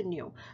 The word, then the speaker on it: nu: Okay, so frequency is given in nu, and that's this this symbol, but this is how it's pronounced. Okay, so nu.